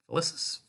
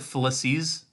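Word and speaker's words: Felicis: out is Felix ficus ficus felices I feel like they pronounce it felices yeah but I'm reading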